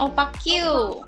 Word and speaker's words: opaque: Opaque, bacanya opaque.